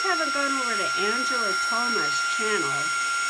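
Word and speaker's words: Thoma: If you guys haven't gone over to Angela Toma's channel, Toma is spelled T-H-O-M-A.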